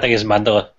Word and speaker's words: mandala: See, Bert, I think you're mispronouncing it because I keep on thinking of Nelson Mandela every time you say that. Oh, right. I think it's mandala.